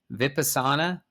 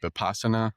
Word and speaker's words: Vipassana: But I know that you hosted an episode sharing your experience of a 10-day Vipassana, am I saying that right?